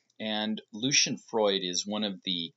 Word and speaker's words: Lucian: His studio assistant wrote a biography about him recently, and that's where I learned how to say his name, Lucian.